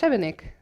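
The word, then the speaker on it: Šebenik: Yeah, so Matej, how is it pronounced? Shebenik?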